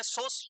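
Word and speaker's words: psoas: is situated behind the सोस muscle source major यहां पे P silent रहता है इट्स अ सोर्स मेजर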